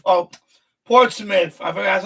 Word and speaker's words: Portsmouth: Portsmith. Oh, Portsmith. I forgot that's how you pronounce it.